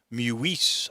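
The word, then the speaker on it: Meeuwisse: William Mewisse, I think is how you pronounce that name, Meuwisse.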